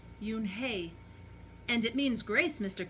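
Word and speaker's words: Unhei: Kim then turned to Joey she nodded slowly well yeah but it's pronounced Yoon hae and it means grace mr. Kim added Eun Hye she said no Yoon hae Joey said it very slowly and this time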